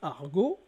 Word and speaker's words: argot: Quand vous dites argot, le T en français n'est pas prononcé.